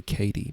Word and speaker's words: Kaede: I want to say Katie, but Katie? I'm going to look it up quickly because I really don't want to get that wrong. Kaede. Kaede. Kaede.